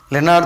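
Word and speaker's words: Lenard: दूसरा साइंटिस्ट आता है लेनार्ड प्रोनाउंसिएशन है लेनार्ड देते हैं।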